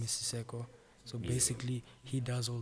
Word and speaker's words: Siceqo: really interested in that, the page is called Siseko. It's a twin brother of mine. Okay. Yeah, I have a twin brother. His name is Siseko.